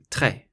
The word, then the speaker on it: très: The letter E with a grave accent should be pronounced like the E in the English word fed. So if you take the F and the D away, you're left with E. So très.